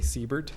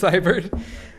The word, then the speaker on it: Seibert: I always say it wrong. I say Siebert, but You said it's it correct this time. it's Seibert.